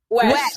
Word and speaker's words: Wesh: Today we're going to be introducing Welch. I hope we pronounced your last name right. It's Wesh, yes. Wesh, so there's no L in it. No L, no.